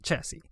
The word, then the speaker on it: chassis: Put this in here and you get some metine chassis or chassis. That's how you pronounce it. Chassis.